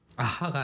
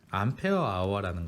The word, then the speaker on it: AH: 아하가 아니라 A는 암페어, 그리고 H는 아워. 암페어 아워라는 걸 써.